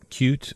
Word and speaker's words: Qt: Okay, so moving forward, um, cute or QT, never know how to pronounce that.